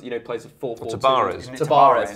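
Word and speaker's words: Tabárez: a number of you know players of four tarez tarez yeah that's correct pronunciation thank you Marcus but I think they'll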